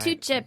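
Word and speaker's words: toetje: Breakfast, lunch, dinner, snack, or tucha. I have to categorize my favorite foods in that sort. Yeah, All right. tucha being the Dutch word for Dessert.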